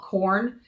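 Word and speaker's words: Quorn: by a company called corn it's weird it's spelled qu ORN and they make a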